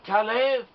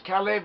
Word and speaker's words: Caleb: Whereas Caleb from the tribe of Judah, his name is pronounced as Caleb or Caleb, it doesn't matter, it's the same name.